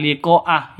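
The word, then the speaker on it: لقاء: Kama Kama nasuliqo yaumihim liqoa panjang karena ada layar Berarti ada Mad bertemu dengan HAM Hamzah ada panjang bertemu dengan Hamzah Mad bertemu dengan Hamzah di mana di satu kata liqoah itu satu ka satu kata artinya wajib lima ketukan mad wajib muttasil liqoa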